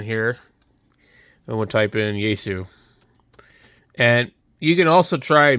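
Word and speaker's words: Yaesu: And also they don't even know how to pronounce it, Yasu.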